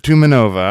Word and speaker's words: Tumanova: I was like, unless this is pronounced weird, I think I got it. Tumanova.